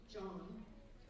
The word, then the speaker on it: Zhang: I am happy to introduce Stephen John. It's Zhang, and it's pronounced John.